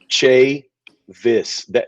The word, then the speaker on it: Chavis: And it's pronounced Chavis. That's how it's pronounced.